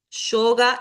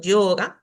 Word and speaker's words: yoga: Si la veo al comienzo, puedo decir yoga y podría pasar, aunque se debería pronunciar como más suavecito, yoga, pero en el interior